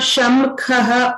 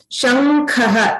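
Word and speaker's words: शङ्खः: It's not Shamkhaha or Shankhaha. It's because it's part of the Varga. Both of them mixed together. Shankhaha.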